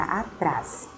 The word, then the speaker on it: atrás: dizer tentar essa palavra atrás atrás é uma oxítona porque se eu estou trabalhando a classificação das palavras quanto a sílaba tônica eu sempre lembrar das oxítonas paroxítonas e proparoxítonas deve e eu disse que essa palavra é uma oxítona por quê Porque a sensação a sílaba tônica Ela está na última sílaba tá então eu falo